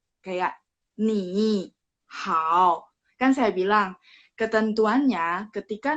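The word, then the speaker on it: 你好: Kan saya bilang, ketentuannya ketika nada 3 ketemu nada 3, berarti depannya cara bacanya berubah jadi nada 2. Kalau penulisannya tetap sama, 3, 3. Penulisan tetap sama 3, 3. Tapi bacanya ketika baca, ketika praktek, ketika ngomong, nada depan, huruf depannya berubah jadi nada 2. Jadi ni-nya berubah jadi ni hao.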